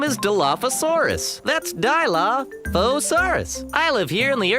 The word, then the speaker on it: Dilophosaurus: That's Dilophosaurus.